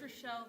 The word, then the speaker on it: Rachel: It's Relle, but spelled like Rachel. Rachel. Okay, Rashelle.